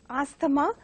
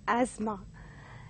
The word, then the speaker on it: asthma: determine and more often the second word is pronounced as a schema by many people but has to be pronounced as asthma and the third word is ballet mispronounced by